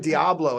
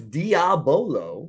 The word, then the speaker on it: Diabolo: Now, so you were doing Diablo at the last show. Oh yes. Mm-hmm. Have you done Diablo for a while? Oh Wait, yeah. what's Diablo? So it's Diabolo. Yeah, I was saying it wrong.